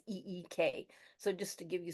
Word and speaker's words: Ik: tradition that you're following it's ik is how you spell it and how you can pronounce it as e k so just to give